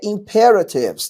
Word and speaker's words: imperatives: O nome em inglês é imperatives, tá? Com essa sílaba tônica aqui, ó.